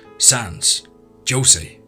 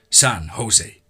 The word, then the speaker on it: San Jose: i told her that in california they pronounced it like in spanish the jay is h and said san jose i asked her when